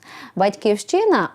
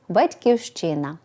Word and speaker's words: батьківщина: народилися громадянами якої є вимовляємо з наголосом на першому або на передостанньому складі як у Ліни Костенко в дитинстві відкриваєш материк котрий зветься потім батьківщина батьківщину також пишемо з